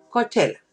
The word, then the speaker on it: Coachella: Se pronuncia Coachella.